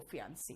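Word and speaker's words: fiancé: जो है महिला, वो फियांसी है, ठीक है। यहां पे फियांसी और फियांस बोलते हैं, बाकी ई का कहीं भी प्रोनाउंसिएशन नहीं आता, ठीक है।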